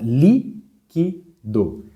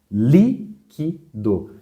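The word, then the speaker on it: líquido: uma palavra proparoxítona então exemplo a palavra liquido liquido você vê que a sílaba cuja intensidade é maior é a anti penúltima vamos contar última do penúltima é o que e a antepenúltima é o li essa é a mais forte uma duas 3 por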